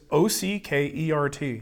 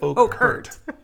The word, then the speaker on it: Oakhurt: name is Ockert. Yeah. There's no way we would have said Oakhurt.